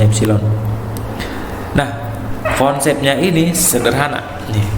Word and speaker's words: epsilon: satuan internasional ini ini tadi bacanya epsilon ya hexilon bacanya epsilon nah ponselnya Ini sederhana